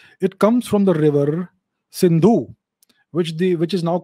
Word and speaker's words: Sindhu: pronunciations were different so instead of sir they would say ha right so instead of sindha they would say hindu and the greeks and